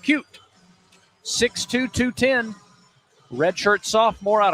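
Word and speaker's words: Keup: The phonetic spelling in the media guide has it ending in a T. Really? Even though his name ends in a P. K-E-U-P. Yep. Pronounced Cute.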